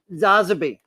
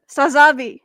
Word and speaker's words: Sazabi: Zazabi. Did I say it right? Sazabi. Sazabi. Yes. It's like wasabi but sazabi.